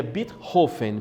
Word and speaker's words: Beethoven: Beethoven ou melhor dizendo a pronúncia correta dele seria birro Fini porque ele é Alemão então seria Ludwig van Beethoven as cores time em